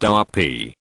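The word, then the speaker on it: Duppy: Doopy, pronounced Darpi, Jamaican patois, a bothersome ghost or apparition.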